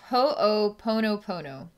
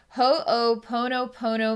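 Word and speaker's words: Ho'oponopono: inspired to do a this is pronounced ho pono pono meditation i'll say that one more time ho pono pono meditation okay dedicated to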